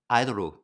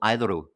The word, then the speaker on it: Idoru: William Gibson wrote a novel called Idoru, Mm-hmm. which is the Japanese pronunciation of idol.